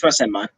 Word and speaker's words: Rasenmon: Rasenmon, like Rasengan from Naruto. Yeah, you're right. You're right. It's Rasenmon.